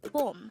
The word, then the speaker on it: 봄: Again, it's 봄. This is pronounced as a one-syllable word.